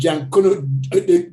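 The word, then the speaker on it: Junkanoo: After emancipation, the tradition continued, and Jankuno, they pronounce it, they spell it junk canoe, evolved from simple origins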